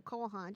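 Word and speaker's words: Cole Haan: Spell it for me. COLEHAAN. Yeah, Kohan.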